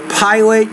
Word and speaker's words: pilot: Pilot, you need to pronounce the P with a little bit more air, but you're getting there. You're remembering, you're trying to remember to pronounce your P's with more aspiration.